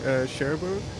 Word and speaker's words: Cherbourg: Andrew and Kev, you were in, if I pronounce it correctly, Cherbourg.